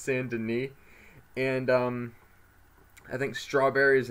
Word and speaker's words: Saint Denis: sand in E or as I call it Saint Denis but it's pronounced sand in me and I think strawberry is another city yeah